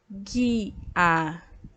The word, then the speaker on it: águia: diz a letra bem a letra u é pronunciada nas duas palavras vamos ler as palavras novamente a água água e a águia olha só que interessante né quando lemos a